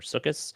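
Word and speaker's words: Sukkot: the Jewish holiday of sukot or sukus for the English sized pronunciation there and uh visiting some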